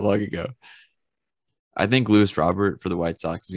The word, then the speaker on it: Robert: go off this year it still blows my mind that you pronounce it robert like that's actually how you you're supposed to pronounce it uh well it feels like it should be robert or something like that does it